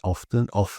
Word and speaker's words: often: So in UK, we would say often, and not often. Often the T here in words like this are just ignored or very underplayed.